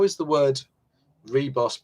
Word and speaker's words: Ribos: Retro Resolution has yet another pronunciation of Reboss. I always read it as Ribos. Seems that's incorrect. Well, I don't know. I honestly don't know. So now how many pronunciations have we got now? Reboss, Ribos, Raybos, Ribos. We should do a poll.